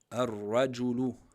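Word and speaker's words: الرجل: Le ra, comme on a eu l'exemple au-dessus, ar-raju, ar-rajulu, ar-rajulu. Bien insister sur la shadda et pas prononcer le lem.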